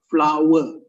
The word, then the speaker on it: flour: The first word is pronounced as flower, like bunga, flower.